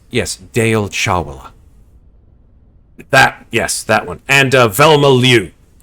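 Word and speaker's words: Chawla: Doctors Deol Chala, sorry. Can't pronounce his name right. Fucking hell. Yeah, Dr. Chala. C-H-A-W... Shit. C-H-A-W-L-A. Chal... And Casado says, yes, Deol Chawala.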